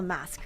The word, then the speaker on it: MVSK: I I I'm gonna call the mask going forward. I know it's spelled MBSK, but I think that we can all determine based on the logo that it is mask.